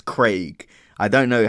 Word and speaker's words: Craig: Craig whereas in America we just kind of pronounced that name as like with like as if it had an e like c e g Craig anyways those are the